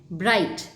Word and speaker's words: bright: अब इसमें G और H ये दोनों जो हैं वो साइलेंट हैं. BRIGHT में GH साइलेंट है. ब्राइट, सो आपको ना G का साउंड आ रहा है ना H का साउंड आ रहा है. So these are two silent letters in the word.